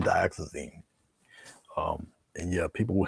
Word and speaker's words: dioxazine: just use dioxin um dioxin purple is what Mike Trapp calls unpronounceable so I think he uses unpronounceable purple and unpronounceable blue it's really dioxazine um and yeah people